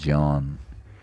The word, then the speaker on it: ज्ञान: तो उसको अगर बोला जाए, जैसे हम इसको बोलते हैं ज्ञान, अगर सही तरीके से बोला जाए तो ज प्लस यान ज्ञान, तो इसका उच्चारण बदलता रहता है समय के साथ साथ।